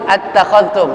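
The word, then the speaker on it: أتخذتم: Perhatikan ketika saya membaca huruf zal yang sukun, zal mati. Attakhadhtum. Saya bacanya nggak nyeret. Attakhadhtum, takhadhtum. Atau dengan cara memantulkan huruf zal yang sukun. Yang pada hakikatnya zal bukan bagian daripada huruf qalah.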